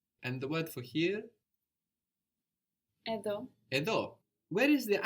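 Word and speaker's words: εδώ: Edo edo. Where is the accent on these words? Where is the stress on these words? Edo at the end.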